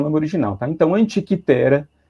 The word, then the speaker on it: Antikythera: Então, Antikythera é o mais adequado, tá? Né, a pronúncia é grega, né?